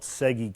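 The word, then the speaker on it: Tsegi: at here is called segi Canyon it's tseg I a little bit hard to pronounce but it's it's the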